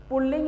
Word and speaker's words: पुल्लिंग: इसमें न रे है, इसका रे निकलने का यह है कि इसमें द्वितीय व्यंजन आ जाता है, जिससे कि लिंग में, पुल्लिंग में इसका साउंड में लोग रे का उच्चारण कर लेते हैं, जो कि सर्वदा गलत है। तो इसका सही उच्चारण है पुल्लिंग।